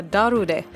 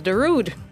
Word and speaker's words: Darude: And our audience positively devoured a story about the Finnish electronic music star Darude, likely often pronounced elsewhere as Darude.